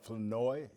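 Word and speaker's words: Flournoy: I tell you what, Flanoy, is I'm pronouncing that right?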